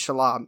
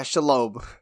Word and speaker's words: Shelob: I think his name is Shelob, which, if that's true, that is a Jewish-ass spider.